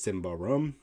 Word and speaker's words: Symbaroum: creates games such as simba rum which is the swedish pronunciation to tales from the